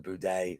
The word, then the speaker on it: Buday: fights lucas breske against martin buday or budai i have a friend named martin buday that's how he pronounces it that's what i'm